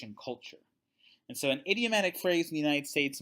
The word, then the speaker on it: idiomatic: So idiomatic phrases, it's spelled IDIO, but it's not like an idiot, but idiomatic.